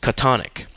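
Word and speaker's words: chthonic: of the old testament the pronunciation of tonic is catonic which explains lovecraft's famous miscatonic river and miskatonic university not to mention the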